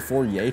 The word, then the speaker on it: Fourier: The Fourier transform? It's actually pronounced a Fourier transform because the mathematician was French.